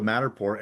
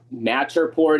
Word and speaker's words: Matterport: It uses LiDAR, and then it gets you a Matterport.